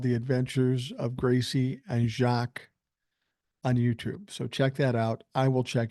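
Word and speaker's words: Jacques: mentions now regarding jacqu I said the name Jack it's pronounced like jacqu custo not Jack LOL Gracie and and I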